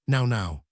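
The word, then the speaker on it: nau: In the native they are called the now which is pronounced now.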